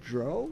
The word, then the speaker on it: Drow: And our next guest is Drow.